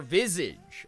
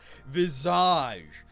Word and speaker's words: Visage: my life which is the game Visage or Visage uh As Americans say it but I I think it's made by a team in Quebec so since they're French Canadian I'm gonna honor them and go Visage so this is a